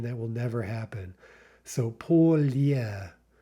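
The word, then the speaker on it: поля: How is that going to be pronounced? Polya, right? So you might think by analogy to the Russian pole, like the North Pole, that yeah is going to be silent in Russian, but again, that will never happen.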